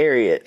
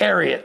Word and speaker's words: Ariat: If these boot if the boot company Aat, I don't know how you pronounce it. Is that the right way to I say Ariat. Ariot.